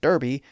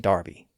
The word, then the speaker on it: Derby: That's why Americans say clerk and Derby, and most Brits say Clark and Derby.